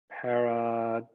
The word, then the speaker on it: pareidolia: ago where you talked about research done in pareidolia. Paragolia. If I'm, That's yes, right. okay, just making sure I pronounce it correctly, Yep.